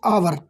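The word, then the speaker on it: hour: been teaching for dash आवर तो दोस्तों यहां पे आप देख सकते हैं आवर का जो उच्चारण है वो स्वर की ध्वनि से शुरू होता है तो इसका जो सही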